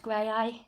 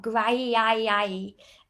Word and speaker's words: Graeae: And it is pronounced Graeae, not Graeae, as we usually get.